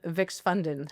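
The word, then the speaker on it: Vækstfonden: How badly did I uh mess up Vix Fund? How do you say that right? It's Vixfund in Danish.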